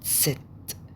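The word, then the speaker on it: Zett: والزد اسمها ست ست ست. يبقى اخر الحروف فاو فاو فاو في في في. اكس اكس اكس. ابسلون ابسلون ابسلون ابسلون. ست ست ست. نطقت ست ست. كأنك بتنطق تي اس بس بتاكل الاس، بتاكل التي. ست ست ست ست. تمام. ما بتنطقش زد ز، لا ما فيش زين، بتنطق ست ست كأن ت وسين.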